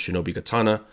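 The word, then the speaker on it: 忍刀: Its name is written with the same characters, but pronounced shinobi katana.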